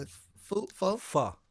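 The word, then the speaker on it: Phở: Pho. So it's Pho.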